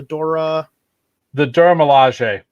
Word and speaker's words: Dora Milaje: The Dora Milaje.